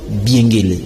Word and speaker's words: Biengele: je reçois maître biengué je pas massacrer votre nom c'est biengué je prononce bien tout à fait prononce très bien d'accord maître je